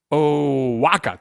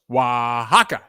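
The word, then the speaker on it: Oaxaca: all already Stephen Nathan ohaka thank you thank you Stephen Nathan ohaka oh Waka thank you so much for help with that pronunciation Waka uh oh close wahaka thank you thank I'm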